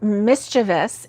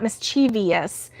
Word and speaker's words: mischievous: Like mischievous is not mischievous because there's no es at the end. It's just ous, right?